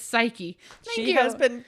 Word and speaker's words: Psyche: her her name is psyche oh yeah yeah yeah yeah I've heard of her um I keep wanting to say psych proud of it's psyche she has been pronouncing